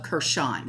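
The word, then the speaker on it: Kherson: on parts of the rich agricultural regions of kershawn and that's k-h-e-r-s-o-n and yeah this word not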